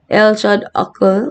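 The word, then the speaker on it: L.H.O.O.Q.: it's a painting so the title rips on french pronunciation of the letters of el shad ako which roughly states she has a hot ass rather than transmuting an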